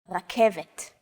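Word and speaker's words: רכבת: The K, V, and T sounds are practically identical to English. It's only the R that's a little different. Focus on this first letter. It's often written as an R, but don't be fooled. This letter is pronounced differently than an English R. It's pronounced at the back of the throat instead of forward in the mouth.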